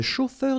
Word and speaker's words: chauffeur: A-U-O, then E-U-R, heure, chauffeur.